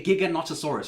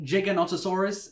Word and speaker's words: Giganotosaurus: for me was that they called it a gigantosaurus right the big massive carnivore the you know the biggest that the world has ever seen but i'm pretty sure it's pronounced giganotosaurus as you can see in a lot of